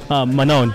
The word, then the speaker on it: Manon: Manon.